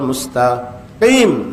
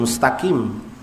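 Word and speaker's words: مستقيم: Itu bukan "takim," itu bukan kaf (k) tapi qaf (q). Masjid mustaqim. Sekarang, yang lebih buruk lagi adalah " mustakim."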